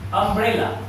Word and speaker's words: umbrella: And we form a word from U, umbrella, right? What is the pronunciation? Umbrella. Umbrella. Yes. Is it clear? Yes. So the letter is U and the sound is A.